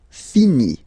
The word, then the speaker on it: finit: Il, elle, finit. So IT, final T not pronounced.